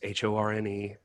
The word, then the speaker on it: Horne: It's Horne. There's lots of jokes to make. My dad had one. He would always say the E is silent until midnight, ladies.